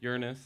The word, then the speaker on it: Uranus: You can see Jupiter, Saturn, Uranus. That's how you pronounce it now.